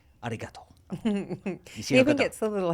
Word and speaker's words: arigato: And don't say arigato, mate, for fuck's sake. I don't care whether you're Aussie or anyone. Don't say arigato, mate. How do you say it, bro? Arigato.